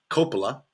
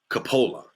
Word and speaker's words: Coppola: They pronounce their name Coppola. We pronounce it Coppola. Both are correct because it's actually a very common last name. There's actually a third pronunciation for this last name.